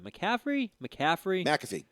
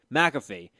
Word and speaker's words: McAfee: McCaffrey? McAfee.